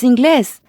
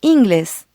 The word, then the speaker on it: inglés: It's inglés, not inglés. Does it end in a consonant not including N or S? No, it doesn't. That means the emphasis should be on the second to last syllable. Since this word doesn't follow the rule, an accent goes above the E.